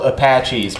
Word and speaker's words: Apaches: It's spelled Apaches, but they pronounce it Apach.